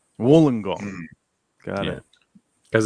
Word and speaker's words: Wollongong: she is saying it phonetically but it is pronounced Wollongong Wollongong got it because it's an Aboriginal word so